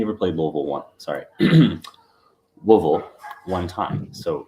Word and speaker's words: Louisville: pronounced yeah I uh I have to remember just to ignore half of the letters in that word uh and get it